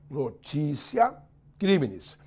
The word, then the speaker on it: notitia criminis: se escreve abolitio, tio, mas toda palavra em latim terminada em ditongo, antecedida de T, o T pronuncia-se C. Então se escreve notitia criminis, mas se pronuncia notícia criminis.